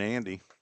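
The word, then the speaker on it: Ande: And that brings up Cameron Andy. A-N-D-E. That's how Andy is spelled.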